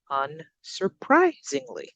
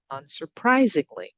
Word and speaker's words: unsurprisingly: example we have is unsurprisingly unsurprisingly so we're going up on that third syllable English has ups and